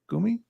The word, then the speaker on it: Shinsengumi: Gumi? I've been saying Gami.